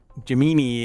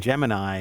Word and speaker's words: Gemini: I'm not aologist, so I don't know how to pronounce like Gemini and Jimini. Jimini is actually the accurate and Gemini is the not accurate.